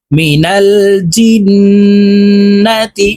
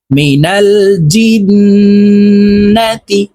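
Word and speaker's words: مِنَ الْجِنَّةِ: জবর না তা জেরতি মিনাল জিন্নাতি জিম হরফ জিহ্বার মধ্যখান থেকে উচ্চারণ করতে হবে কারণ জিমের মাখরাজ জিহ্বার মধ্যখান থেকে হবে মিনাল জিন্নাতি ওয়াও নুন জবর ওয়ান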